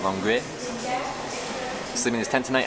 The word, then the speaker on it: Longueuil: It's just so many vowels, I don't know what to do with my mouth. Longueuil. Longueuil. I don't think you pronounce most of it, you kind of just like slur it out.